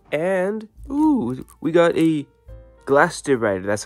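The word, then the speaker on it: Glastrier: a promo card and ooh we got a glast de rider that's how it say his name almost said gaster Rider which would have been probably a better name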